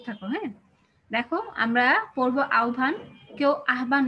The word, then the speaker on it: আহ্বান: আমরা দেখতে পাচ্ছি দেখো এখানে কেন আমি আহ্বান বললাম কারণ উচ্চারণের নিয়মে আছে যে হ আর ম সংযুক্ত হলে কিসে আওয়াজ বাবা একটু মিউট করে